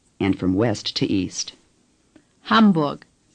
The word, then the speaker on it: Hamburg: The letter A in German is pronounced A. Ham. Say, Ham. The letter U is pronounced U. Say, Burg. Now say, Hamburg.